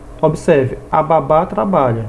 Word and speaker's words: babá: a do significado até por exemplo baba não tem acento babá já tem acento observe a babá trabalha e a criança